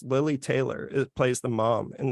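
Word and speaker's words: Lili Taylor: So a brilliant thing that they do in The Conjuring is they cover, sorry, I mispronounced her name before. It's Lily Taylor.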